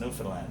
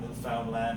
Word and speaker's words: Newfoundland: And it is pronounced Newfoundland, not Newfoundland or Newfoundland. Newfoundland is the oldest settlement